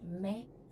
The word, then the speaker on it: México: Por isso que México, você vai ouvir a pronúncia de México, mesmo sendo escrito com X.